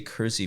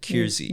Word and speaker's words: Keirsey: spelled k i r s y it's actually pronounced KY uh but every time we say cury people are like what did you say courtesy or did you and so we deliberately Miss pronounce it kiry ke e i r s e y uh